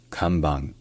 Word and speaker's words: kanban: et non pas CAN et enfin le N qui est en fin de mot ça se prononce dans la gorge ça se prononce un peu comme un son nasal au même endroit que le r français donc ça devient kambang kambang bref si jamais il